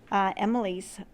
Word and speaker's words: Emil: I mean, this is just like kind of like the middle of the story, because their son, Emil, not their son, but Emily's son, Emily and Cable.